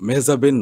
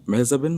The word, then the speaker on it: মেহজাবিন: দর্শকরা শুনে কিন্তু এখন অবাক হবে যে মেহজাবিনের নাম মেহজাবিন না, তাহলে কি? ওয়েল, লাইক সবাই তো মেহজাবিন বলে, তো এটার উচ্চারণটা আসলে একদমই অন্যরকম। ইটস মেহজাবি। মেহজাবি? হ্যাঁ, এন বা ন, আচ্ছা, এটা কিন্তু সাইলেন্ট।